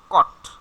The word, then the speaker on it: caught: আচ্ছা, এটার উচ্চারণ হবে কট, ঠিক আছে, কট। Caught.